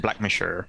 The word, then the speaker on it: Blackmore: the county of Blackmore which is pronounced black mature Gilda has just fallen